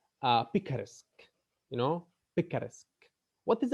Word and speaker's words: picaresque: uh his his his novels are called uh picaresque you know picaresque what is a pica risk